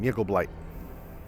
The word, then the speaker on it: Jiggle Blight: hag's name is that am I reading this right jiggle blight correct that is the hag's name jiggle blight oh my God all